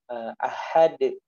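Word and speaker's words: أَحَدٌ: Nah, kita pantulkan karena dia memiliki sifat memantul.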